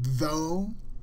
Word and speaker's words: though: so in the word though we don't pronounce the GH often many people don't